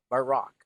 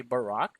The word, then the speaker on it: Barack: Barack, Okay, this is actually pronounced as Barack. Say Barack.